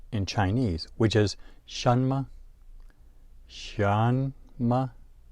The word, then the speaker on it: 什么: Shanma. Notice the rising tone on the first syllable, shan, and then the neutral tone on ma.